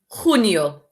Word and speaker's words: junio: Junio. Remember the J makes a sound. Junio.